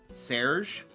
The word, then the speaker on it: Serge: Serge is the English pronunciation. Uh the French treat it more like Serge.